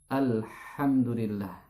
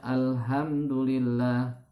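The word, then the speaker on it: الحمد لله: Yang harusnya kita membaca huruf H, ini dibaca dengan huruf H, ya. Apa bedanya? Contoh pada kata Alhamdulillah, ya. Banyak orang membaca Alhamdulillah karena belum pernah belajar makharijul huruf, ya.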